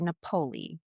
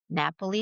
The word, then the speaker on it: Napoli: Napolei. Napoli. How do you say it? N A P O L I. Napoli. Napoli. Napoli. Napoli. Napoli. Napoli. Like your favorite pizza place at home. Napoli.